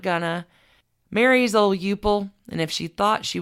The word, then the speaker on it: Euple: Eupple Bird. I'm sorry. Can you spell that? E-U-P-L-E. Eupple.